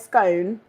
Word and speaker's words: scone: anyone out there says scone tell us where you're from maybe we can work it out by some sort of graph SC isone scone is in Stone thank you like the